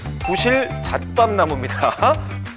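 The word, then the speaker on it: 구실잣밤나무: 차나무, 후피 향나무, 구실 잣밥나무 발음 잘하셔야 돼요. 구실 잣밥나무입니다.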